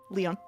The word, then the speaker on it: Lion: Leon Leon or Lion Leon. Leon. Like a French Leon.